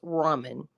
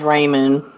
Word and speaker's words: ramen: what girl oh man my husband said it's Ramen it is it is ramen it's Ramen and he's as black as get I guess I'm the only one in the family that says Raymond yeah You' been around